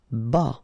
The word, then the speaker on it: bas: Bas. Final S not pronounced.